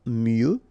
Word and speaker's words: mieux: Valoir mieux, final X not pronounced, valoir mieux.